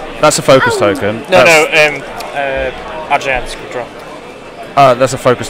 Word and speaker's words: Adrien: So I'm going to let you pronounce it. Is it Adrien? Adrien.